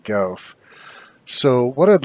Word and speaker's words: GaaWF: way of function and I pronounce that golf so what I'd like